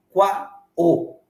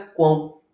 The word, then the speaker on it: quão: o da palavra quão você não pronuncia qua o você pronuncia quão o ó tem som de u Portanto ele acaba assumindo